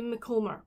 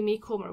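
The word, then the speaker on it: Macomber: then go on to debbie mccomber or debbie me comer whichever way you want to pronounce it i my very first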